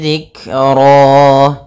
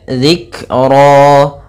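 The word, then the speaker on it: ذِكْرًا: fathah bertemu alif kemudian zikro pada lafal zikro di sini ada huruf dzal kecil jangan sampai dibaca dengan zikro tapi dia zikro.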